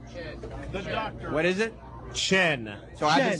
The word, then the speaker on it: Chien: Chin. Chien. The doctor. What is it? Chen.